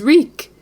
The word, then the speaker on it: Reek: Winterfell my name is reek he had to remember his name it rhymes with freak so from this moment